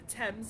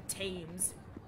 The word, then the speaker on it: Thames: It's the Thames, not the Thames.